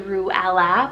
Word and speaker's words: Ruella: it means Meadow beneath the sky ruella r-u-e-l-l-a ruela with the nicknames of like Ella and Rue